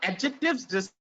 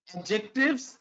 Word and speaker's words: adjective: Adjectives describe a noun. Now, there is one thing I want to tell you, the pronunciation of adjectives. It's not adjective. It's not adjective. It's adjective.